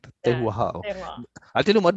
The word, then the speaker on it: terroir: Tehua. How do you pronounce it? Terroir. It's Tehua. French. I like that. Yeah. Tehua.